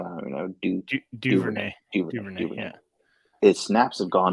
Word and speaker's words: Duvernay: I mean, I was looking at the snap percentage for Dunervey. Is that how you even say his name? I don't even know. Duvernay.